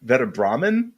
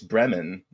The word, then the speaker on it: Bremen: Veda Brahman. Oh, isn't Bremen? It's Bremen.